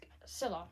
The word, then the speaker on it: Scylla: There are still some the titans which we don't know about any other specimens of their kind, like Scylla or Scella. That's Scylla. Yes, that's how you say it.